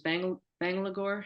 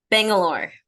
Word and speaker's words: Bangalore: image is in oh I mispronounced this banglador how do you say that Bangalore Bangalore thank you this image in Bangalore